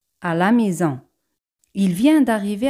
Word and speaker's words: maison: Casa en francés es maison. Maison. Generalmente la letra S se pronuncia con un sonido Z cuando va entre dos vocales.